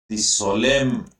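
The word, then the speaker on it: solemn: करते हैं ब्लेसिंग की सोलम एन इसमें साइलेंट रहता है सोलम का मतलब होता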